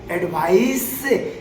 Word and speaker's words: advice: Okay guys, तो अभी आपको मैंने समझाया एडवाइस जहाँ स का उच्चारण है तो वो सलाह होता है, वो एक नाउन है और यह किसी एक्सपर्ट के द्वारा ही दिया जा सकता है।